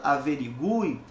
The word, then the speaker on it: averiguei: sendo a mesma então a letra U na palavra averiguei continua sendo pronunciada a fortemente embora e o acento